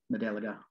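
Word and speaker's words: Modeligo: is a parish named Madeligo, or at least that's how it's spelled, M-O-D-E-L-L-I-G-O. And I believe the I-G-O is sometimes pronounced like the ga, Madeliga.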